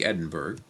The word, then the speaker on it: Edinburgh: He's born in 1711 in Edinburgh, Scotland. That's the way you pronounce what looks like Edinburgh.